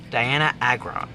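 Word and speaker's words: Dianna Agron: Another person frequently mentioned when talking about Gayler theory is Diana Agron. Yes, I pronounced that right. Diana Agron.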